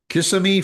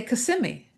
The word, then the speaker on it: Kissimmee: Kissimmee, Florida Everybody on their way to Disney wants to stop in Kissimmee. And I would say Kissimmee.